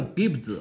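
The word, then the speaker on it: kibbutz: 中文啊，它的发音叫 Gibbs 啊。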